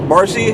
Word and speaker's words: Marcia: the uh intensive care marcy came to see him apparently it's marcy and not marcia because it's spelled m-a-r-c-i-a but i guess she just goes by marcy and one of the